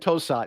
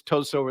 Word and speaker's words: Tosot: a convention I said toat it's just the obvious way of of approaching it but uh it is too at least that's how the Chinese pronounce it so I go with